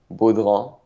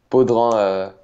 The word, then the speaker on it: Baudrand: a little something new, you can say Baudrand. It's the French because I'm French Canadian, and my last name is French, and so it's typically pronounced in the French way. But Baudrand or Baudrand both works.